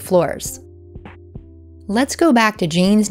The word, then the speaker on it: Jane: What sounds are in the name Jane? J, A, N, right? Only three sounds. In English, the final E is not pronounced, it's silent. So there's no reason to